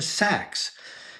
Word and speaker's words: Sachs: mean well is it it's spelled the same way is like saxs Fifth Avenue but it just say Sachs she say well where